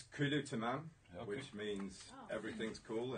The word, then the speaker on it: Kulu Tamam: It's Kulu Tamam, okay. Which means everything's cool in Arabic. Could you spell it for me?